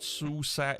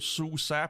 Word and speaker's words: SUSE: of them it's not suicide it's it it's pronounced susa but it spells su c with an e it's german in german e is is pronounced a so yeah from what